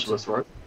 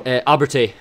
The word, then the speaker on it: Abertay: Abbotsworth, right? Pardon? Was it Abbotsworth or Abertay? That's how you pronounce it.